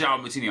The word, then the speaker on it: João Moutinho: Is it João Moutinho? Oh God, have I just said it wrong? It is João Moutinho. I knew that.